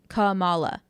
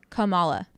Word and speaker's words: Kamala: show where it's like it's not kamla it's calm Kamala so think about it like you're just saying every a Kamala so Miss Marvel uh